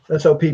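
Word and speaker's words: Sopp: S-O-P-P.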